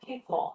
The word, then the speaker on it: pitfall: 발음이 어려워. 앞에는 P고 뒤에가 F라서 pitfall 무슨 뜻이야? 그렇죠. 함정, 위험 이런 뜻이에요. pitfall, 함정, 위험.